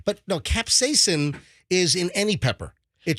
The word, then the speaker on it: capsaicin: ingredient in those Peppers is called I'm gonna pronounce it wrong but capsicin capsaicin capsizing but no capsaicin is in any pepper it just depends on